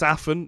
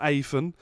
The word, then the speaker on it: Aphen: It's Aphen, not Aphen.